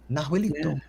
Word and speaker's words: Nahuelito: Okay, Nahuelito. Yeah. Yes. So it's a lake monster, kind of resembling the Loch Ness monster. Very similar, actually. Yeah. Nahuelito lives in Nahuelhuapi Lake in the Patagonia region of Argentina.